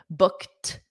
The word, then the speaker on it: booked: calendar I'm booked okay booked notice that t for the Ed I'm booked this means